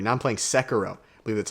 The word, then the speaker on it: Sekiro: Now I'm playing Sekiro. I believe that's how you pronounce it.